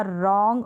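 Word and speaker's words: wrong: अब यहाँ पर र करके प्रोनाउंस करेंगे, साथ में आता है क्योंकि W तो साइलेंट है और R का ही साउंड हम देंगे। तो देखें रैक हो गया, रैच हो गया, रेथ हो गया, रिस्ट हो गया, रॉन्ग और रिंग।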